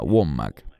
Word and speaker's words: Wommack: Hay tantos de esos falsos maestros, llámese Kenneth Copeland o Andrew Wommack, creo que se pronuncia Wommack, quienes han publicado videos